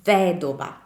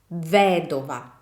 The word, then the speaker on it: vedova: So the stress doesn't follow on the second to last vowel, but follows on the third to last vowel, which is the I.